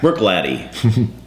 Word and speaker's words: Bruichladdich: test dummies and uh come here for gaay pronunciation that's right bre BR it means running running Small Deer Brook latty Brook Lotty Black Arts 4.1 awesome Canta Scotch it you